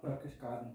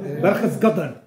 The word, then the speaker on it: Berchtesgaden: Berchtesgaden. Huh? Berchtesgaden. Oh my goodness, okay, help me to pronounce that. Berchtesgaden.